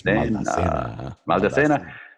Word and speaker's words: Maldacena: You have to say it like this. Maldacena.